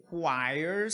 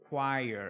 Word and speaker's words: choir: Roman cavalry choirs, só a pronúncia, are singing. Então, corais, tá? A gente fala essa palavra choir. É uma palavra que não tem muito a ver com o que está escrito.